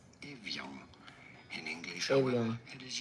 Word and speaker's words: Evian: In French it is said as Evian. Evian. In English, however, it is usually pronounced as Evian.